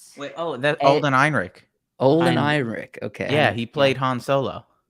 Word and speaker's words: Ehrenreich: wait, oh, that's eh, Alden Ehrenreich.